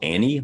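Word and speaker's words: Ane: a model like this they call their model Annie like like the woman's name although they spell it uh a-n-e you know you gotta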